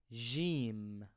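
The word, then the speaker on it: ج: first one which is Jim I pronounce this letter as a French J in bour an Arabic word for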